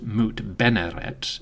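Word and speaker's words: Mutnedjmet: We know the queen had a sister, a lady named Mut-Nojmet, or the goddess Mut is sweet. The name could also be pronounced Mut-Beneret, it is unclear.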